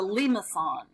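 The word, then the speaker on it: limaçon: The pronunciations are up here. It's a limacon.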